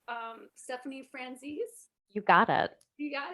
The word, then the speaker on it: Stephanie Franzese: in we have let me know if i'm pronouncing your name correct um stephanie franzis you got it you got it okay and